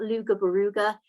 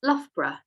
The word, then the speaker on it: Loughborough: where loughborough is and this is how it's pronounced by the way it's not luger beruga it's not lobro it's not luff bra it's loughborough and it's right in the center of the